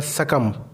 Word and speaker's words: succumb: उसी तरह सकम, यहाँ पे सकम में लास्ट जो लेटर है वो बी है, बी साइलेंट रहता है इसकी SUCCUMB, सकम। हम बी को साइलेंट, बी को प्रोनाउंस नहीं करेंगे।